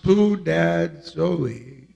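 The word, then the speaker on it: σπουδάζω: The word endeavoring, the Greek word is spoudazo, and it is pronounced spoudazoe, and it is number 4704.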